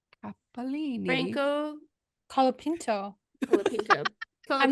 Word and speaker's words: Colapinto: Colapinto.